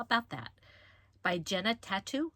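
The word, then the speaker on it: Tatu: By Jenna Tattoo. I think it's Tattoo. T-A-T-U.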